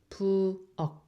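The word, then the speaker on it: 부엌: So together you make pu ok, pu ok, pu ok. This k is more like k, like pu ok, pu ok.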